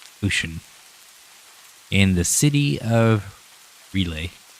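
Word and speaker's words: R'lyeh: in the city of relay R apostrophe l y h relay relia which is under relia relay I don't know it's another one of those names that is fair alien he's hibernating there because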